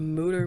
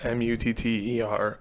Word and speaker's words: Mutter: So I believe it's a German name. It's Mutter. A lot of people actually call it the Mutter Museum because that would be